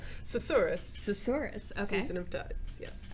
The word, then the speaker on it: Susurrus: And we're going to speak a little bit about, I also cannot pronounce this game's name. Susurrus.